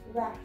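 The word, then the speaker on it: verte: Vert. Okay, so there is an additional E, that's why the sound comes of vert. The T pronounces here, but not in this case.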